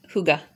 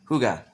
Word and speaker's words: hygge: their new album winterperson slash how do you pronounce it kel h-u-y-g-g-e hygge hygge which is a kind of a form of